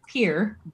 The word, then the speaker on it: Pierre: our state capital is it's pronounced around here pier it's pierre i mean